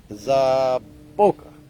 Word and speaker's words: zaboca: They're down to, it's pronounced zaboca. Zaboka?